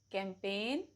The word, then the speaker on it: campaign: Rule number 1, जी is usually silent before n. For example, design, assign, reign, campaign, line, foreign, new, resign, benign.